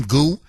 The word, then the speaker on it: Gu: Okay, I think this is how you pronounce her last name, Gu.